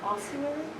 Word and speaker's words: ossuary: Would I be pronouncing it correctly if I said ossuary? Correct.